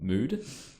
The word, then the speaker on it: Mudde: Yeah, like I remember I was reading a academic paper by a guy called Mood, and he like it's spelled Mudde.